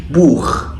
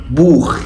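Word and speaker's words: Buch: السي اتش سي اتش سي اتش عندنا لو جت بعد ثلاث حروف معينين بتنطق خا خا الثلاث حروف دول هم الا او احفظهم عشان لو السي اتش جت بعدهم بيتنطق خا ثم اشبيل بوخ بوخ يعني كتاب اوضه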